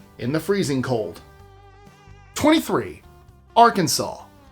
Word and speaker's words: Arkansas: It's our Kansas, not our Kansas. Or else. Say it wrong and you might get a polite correction. Hey, I saw you say our Kansas. Don't get sassy. It's Arkansas.